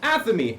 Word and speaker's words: Athamé: when when you have second the spelling in aamy a t h m e with Theos or